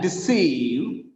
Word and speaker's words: deceive: And deceive, D, one syllable. The sound is E. Sieve. Look at this sieve. You can notice three vowel letters there, but the sound is only one.